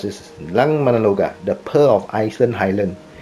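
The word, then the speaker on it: Landmannalaugar: And I know how to pronounce this. Langmanaloga, the Pearl of Iceland Highland.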